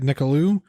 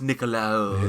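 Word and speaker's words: Nicolaou: It's pronounced Nicolau. It's Nicolau. Oh, Jesus Christ.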